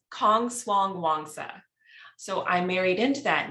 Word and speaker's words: Kongswangwongsa: really not that bad it's Kong Swang Wanga so I'm married into